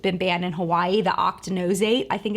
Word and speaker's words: octinoxate: banned in Hawaii the octa knows eight I think it's how you pronounce it I always want to say Octonauts eight but I think it's octinoxate that's the one that has